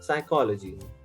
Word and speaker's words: psychology: combine these two words, you reduce the emphasis on the psycho, on the O towards the end of psycho, and you just call it psychology. And the P again in this word is silent again.